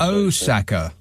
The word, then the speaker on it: Osaka: Because we Brits say Osaka. I know I do, but it's yeah, Osaka. Yeah, Big O. Right. Okay. That's the way it's done.